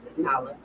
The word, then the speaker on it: Naalah: Is it Naalah? Naalah. Naalah. I want to pronounce it right.